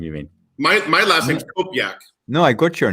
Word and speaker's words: Kopjak: And Andy, I have to say that I've known you for 41 years and you still don't know how to pronounce my last name. Kopjak? It's Kopjak. Kopjak.